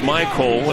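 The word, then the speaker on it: Mycole: That's Michael. It's spelled M-Y-C-O-L-E.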